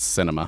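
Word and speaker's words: Sinema: All they have here on Wikipedia is Sienma. But maybe that's because the Republicans haven't picked the candidate yet. Oh, you're right. It's pronounced cinema, huh?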